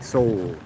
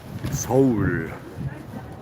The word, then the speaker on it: Seoul: Soul. Soul. I've pronounced that correctly.